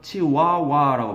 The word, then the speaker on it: chihuahua: 그럼 our eyelids, 우리의 눈꺼풀들이 will do the same thing as the chihuahua라고 발음해요. H 발음 거의 안 들려요.